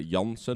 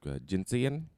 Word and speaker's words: Jansen: Like in Dutch we would say Jansen. Jansen. Okay. But the English version would be like Jansen. In Iban would be maybe like Jinsian.